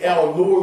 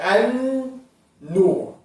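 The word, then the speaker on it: النور: So you will never say el nur, you say an nur, because the lam is silent.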